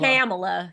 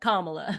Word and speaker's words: Kamala: say Kamala they say Kamala purpose too Kamala camela C they say anything but kamla yeah and if they say comma they change